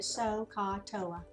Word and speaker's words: SOHCAHTOA: We call it SOHCAHTOA. That's how you pronounce it, SOHCAHTOA.